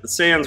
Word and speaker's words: Sans: I hear you yeah but Sam's rhymes with cans for that kind of words yeah okay so I'll